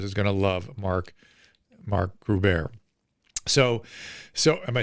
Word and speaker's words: Groubert: going to love Mark Groubert." So am I saying it right, Groubert? Again, only the Germans say the U. Groubert. The Jews, it's silent for the Jewish people.